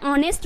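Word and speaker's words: honest: बोल सकते हैं ना बट यहां पे तो एच साइलेंट करना है तो आपको क्या बोलना है ऑनेस्ट बोलना है एच का उच्चारण ही नहीं आपको करना है यहां पे उसी तरीके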